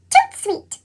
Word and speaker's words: tout suite: That's French for right away. You say it like this, tout suite.